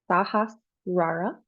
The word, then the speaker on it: Sahasrara: I believe in Sanskrit it is pronounced Sahasrara. Sahasrara. You can look that up if you're curious to learn more.